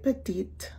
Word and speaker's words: petite: Elle est petite. Remember you put the E at the end and lightly pronounce it.